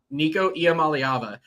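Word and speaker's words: Nico Iamaleava: it believe it or not IAM malava yep Nico IAM malava I know he started the bowl game last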